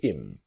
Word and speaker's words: him: So our focus is on him to im. The idea again about her to is native speakers don't always pronounce the letter H when we speak quickly.